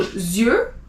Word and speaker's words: yeux: EU is E, so yeux, you don't pronounce the X.